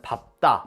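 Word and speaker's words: 밟다: 여기서 예외가 하나 나옵니다 리을 비은 원칙은 리을로 발음하지만 바다라는 단어만 예외적으로 비읍으로 발음해요 물론 뒤에 자음이 온다는 조건에서 밥다 나 밥고 같은 경우 뒤에 디귿 기억이라는 자음이 오죠 이런 경우에는 밥다 밥고 이렇게 비읍으로 발음해야 합니다 모음이 오는 경우엔 발바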